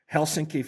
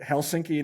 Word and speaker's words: Helsinki: Then spent some time in Helsinki, Finland. You can tell I have cuz I'm pronouncing it Helsinki, not Helsinki, which is how uneducated Americans say.